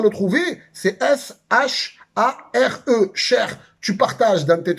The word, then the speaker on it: share: Si tu cherches le partage et que tu n'arrives pas à le trouver, c'est S-H-A-R-E, share.